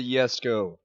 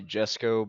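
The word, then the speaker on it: Jesko: Seriously, I would so like the Yesco. To other people, they would say Jesco, but I like pronouncing things the way that the people made it would pronounce it.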